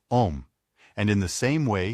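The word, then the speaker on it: homme: piece of bark he learned from darno that it was pronounced om and in the same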